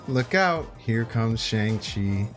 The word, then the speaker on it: Shang-Chi: Here comes Shang-Chi. Shang-Chi.